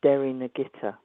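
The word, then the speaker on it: Derrynagittah: Uh which is Derry Nagitta. Um spell it. Yes. So it's it's d e r r y dair. This is all one word and then n a g i t ah.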